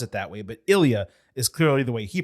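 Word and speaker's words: Ilja: not so much wrong but not exactly correct Isa is not wrong because some people do pronounce it that way but Ilia is clearly the way he pronounces it and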